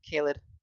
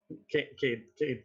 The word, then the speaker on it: Caden: It's Caled, your the spirit from your book. Sheesh. Hi. Wait, what's his Oh, name? I said it wrong, didn't I? Caden, Caden. right? That's what it's Caden.